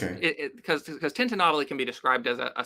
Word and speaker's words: tintinnabuli: How do you pronounce it? Tintinnabuli.